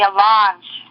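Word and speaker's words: allonge: something and I would also ask for the a launch it's spelled a-l-l-o-n-g-e I have an alarm sitting right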